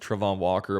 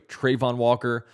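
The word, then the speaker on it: Travon Walker: look I apologize everybody I've been pronouncing his name wrong for some reason I thought in a video he said his name was pronounced Trevon Walker but it's actually Trayvon Walker so I need to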